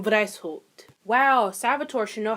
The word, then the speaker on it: Weishaupt: Adam White. Oh, Lord. Is that German? Wow, it is German. Wow, I should probably fucking know that. So, the founder was actually Adam Weishaupt.